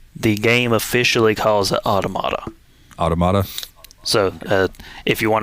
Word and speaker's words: Automata: at one point the game officially calls it automata automata so if you want to go by the actual game that is the correct pronunciation but I will always say automata near automata onomatopoeia yeah um but yeah so